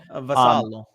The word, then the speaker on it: Vassallo: And I think that was a correct pronunciation for the first time in my life. Vassallo.